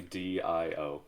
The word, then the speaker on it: Dio: given the way that words are pronounced on Cell, it would be Dio.